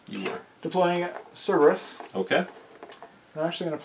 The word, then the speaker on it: Cerberus: Cerberus. Yes, thank you for saying that, because I knew I was going to say it wrong. You were. Deploying Cerberus.